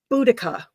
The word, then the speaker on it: Boudica: We'll just take a couple more comments, and I know about how do you pronounce that again? Boudica.